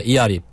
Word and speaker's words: Earip: And it's spelled E-A-R-I-P. Because E is like in a Korean name E. Right. Arip is like A-R-I-P. But if you just pronounce it, it's like Earip. Ear-rip, like ripping your ears.